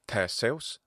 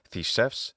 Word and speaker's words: Theseus: Theseus, classical Attic pronunciation, Theseus, modern Greek pronunciation of the same name, and Theseus in classical Latin pronunciation.